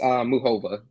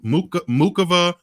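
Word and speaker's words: Muchová: She says Muhova. Like she doesn't pronounce the C at all.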